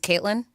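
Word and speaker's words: KVIIILyn: v i i i okay Lyn so it's pronounced Caitlyn Caitlyn oh wow right wow it's different I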